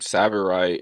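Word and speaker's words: tsavorite: me for Kenya um savorite is spelled t s a b o r i t savorite cost sa cost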